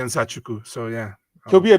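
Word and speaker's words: Nzechukwu: My name is Kennedy Zachuku. So okay. Zachuku. I think we might have looked up that one. It's a tough one. I've always had troubles with his. I always say Zachuku.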